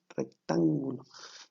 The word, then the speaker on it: rectángulo: Ahora, según la medida de sus ángulos, vamos a tener uno que se llama triángulo rectángulo. Fíjate bien, lleva acento en la A, rectángulo.